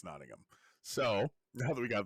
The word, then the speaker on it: Nottingham: everybody's aware that is the proper way to pronounce that I'm pretty sure jonty would agree with me but yeah Nottingham not notingham it's not Nottingham no it's Nottingham so now that we got that out of